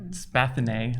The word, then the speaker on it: Spathinae: the Spathinae has never been pronounced before now in public. That's how we say it now, though, officially.